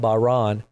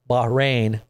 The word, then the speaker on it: Bahrain: I And I I know this is what they're saying right now about Bahan. Bahrain.